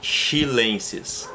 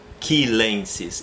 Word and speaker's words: chilensis: Vanellus, e aí eu não vou falar chilensis. Isso seria em português. Em latim vai ser quilensis.